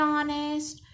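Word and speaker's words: honest: नीचे एन ऑनेस्ट, तो H silent है, ओ से प्रोनाउंस होता है तो यहाँ पर भी एन आर्टिकल आएगा।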